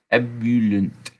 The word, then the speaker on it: ebullient: That is ebullient. Ebullient. Ebullient. Yeah, Ebullient. that's another good one. Ebullient. That's 4 syllables.